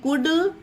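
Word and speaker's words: could: सीओ यू एल डी कुड डब्लू ओ यू एल डी वुड ये तीन ऐसे example है जहां पर एल साइलेंट रहता है जब डी से पहले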